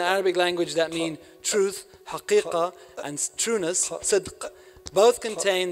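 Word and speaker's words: حقيقة: literally speak the truth, one must pronounce the qaf. If one drops the pronunciation of the qaf and pronounces the word truth with a glottal stop, which would be haq as ha, they are simply not speaking the truth as it truly sounds.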